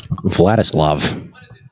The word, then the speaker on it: Vladislav: He thinks it's Vladimir Nemesnikov. It's Vladislav. Vladislav.